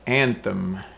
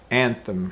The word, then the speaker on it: anthem: the word is so the first word is anthem anthem and use this as a one listening comprehension